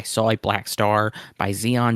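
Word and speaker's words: XEON: A Black Star by Zeon Zeon Zeon. Uh that is Zeon three times and it's all capitals and it's spelled x e o n.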